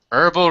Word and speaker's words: herbal: plant something heral remedies Herbal Remedies and thank you very much for not pronouncing the H herbs herbal excellent uh the H is silent in that word okay medicines made with